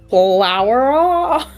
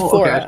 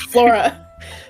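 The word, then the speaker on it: Floura: So of course people are going to pronounce it flower because it's spelled with o u r. So f l o u r a. But it's flora. I promise it's flora.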